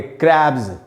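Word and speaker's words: crabs: हो, उसके एंड में एस लगा हो, तो उसमें एस को ज पढ़ना चाहिए। जैसे क्रैब का मतलब होता है केकड़ा, और क्रैब में जब एस लगाया तो उसको पढ़ेंगे क्रैब्स।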